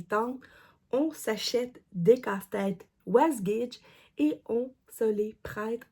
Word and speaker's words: Wasgij: ça que ça s'écrit was gidge alors faut vraiment prononcer le J moi on a souvent prononcé was was GID mais c'est was gidge la compagnie was GID